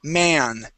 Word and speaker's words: man: singular is man with me in the middle. Ma, man. Okay. Plural. Okay. Has a E. This is a short E sound. Okay. Me. Men. Men. Man. Singular. And men. Good. Plural. Yeah. So man, singular, man, and men, meh, men, plural.